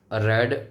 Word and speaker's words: Reid: True vapour pressure थोड़ा सा ज़्यादा होता है इस रेड वेपर प्रेशर से, 5 to 9% higher than रेड vapour pressure. रेड की स्पेलिंग क्या है? REID, रेड vapour pressure, right.